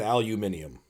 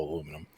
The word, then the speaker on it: aluminum: bit well i mean the person who originally wrote it down was british and he said aluminum so the brits are all wrong today it's still aluminum it's one of the few times i agree that the brits are wrong on how they pronounce things yeah brits are also